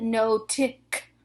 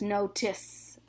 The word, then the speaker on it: notice: When you have a magic E, it makes the C say S instead of K. So this isn't no-tick. This is notice. It's a soft C.